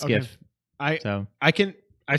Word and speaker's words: GIF: now you understand why even though the guy calls it jiff why I still say no it's gif I know I can